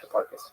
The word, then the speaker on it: Hipparchus: Hipparchus? Yeah, Hipparchus.